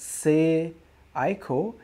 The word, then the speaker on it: Seiko: penguins Hawk says it's Seiko is pronounced say ICO say say say ICO is that correct did I